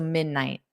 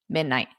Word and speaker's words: midnight: So midnight, night, midnight. Great question. Exactly. Mute T at the end.